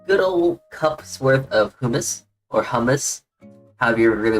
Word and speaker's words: hummus: Hummus, Hold on, let me look it up real quick so we can get a good, how to pronounce it's hummus.